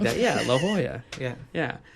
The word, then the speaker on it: La Jolla: L's on all the street signs, and I'm pronouncing everything La Jolla. La Jolla. And things like that. Yeah, La Jolla.